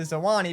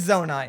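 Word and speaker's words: Zonai: the zone I'm although in that video I mispronounced it the entire time as the Suwanee because I wrote it incorrectly in my script but it's zona and I'm well aware of that thanks to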